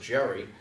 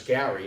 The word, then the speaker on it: Gerry: and in Elbert scaredy's I know most people pronounce that Jerry but it's Gary Elbridge Gerry and they were they